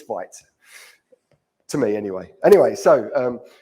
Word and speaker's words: Vite: So it's Vite.